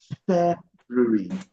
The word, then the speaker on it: February: Some people say February though. February, I think it's an alternative pronunciation, okay? But so don't think it's totally wrong. So you can either say February or February, but never February.